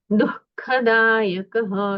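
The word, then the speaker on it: दुःखदायक: कर्मणा दुख और यह जो है बीच में चिन्ह जो है क और ख इसके पहले जो विसर्ग होता है उसका अर्ध उच्चारण किया जाता है। इसलिए दुखदायक ऐसा उच्चारण होगा।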